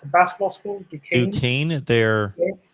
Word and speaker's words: Duquesne: Duquesne. It's pronounced Duquesne.